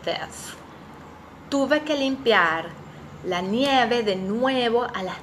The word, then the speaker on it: nieve: Nieve, nueve, nuevo. Nieve. The I in Spanish sounds I, like sí. So, nieve. ¿Puedes adivinar quién es Blancanieves?